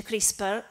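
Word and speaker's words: CRISPR: dire perché chris per si chiama tris parente giusti e chris paul ma si legge crispi perché questo acronimo è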